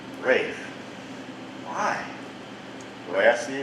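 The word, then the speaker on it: Ralph: with the lowly seaman, Rafe Rackstraw. By the way, that name, Rafe, spelled R-A-L-P-H, but it's pronounced Rafe.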